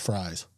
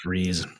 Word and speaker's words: Fries: I believe it's pronounced fries like in hamurger and Fries I keep on saying freeze but it is fries and uh for a